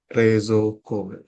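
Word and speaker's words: 冷蔵庫: Ada dua bunyi panjang yaitu re dengan i. Re ditulis dibacanya ditulis di di apa namanya tuh diejanya re i zo uo re i zo tapi dibaca panjang dua dua ini ya di sini ada dua suku kata rezok rezok rezoko seperti itu binasang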